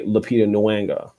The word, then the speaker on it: Lupita Nyong'o: That's why it's so important when we see a Black woman like a Lupita Nyong'o. I'm sorry. Did I pronounce her name correctly?